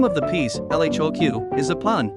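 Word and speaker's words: L.H.O.O.Q.: name of the piece l h oq is a pun the letters pronounced in French sound like elado she is hot in the ARs or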